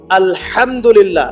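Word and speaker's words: الحمد لله: আলহামদুলিল্লাহ।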